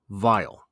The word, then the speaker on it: vial: My favorite irony here is the vial. VIAL, as you would imagine, that's someplace like where you put perfume, which is what the poem is talking about. But it's also phonetically the same word as VILE, something which is very, very bad.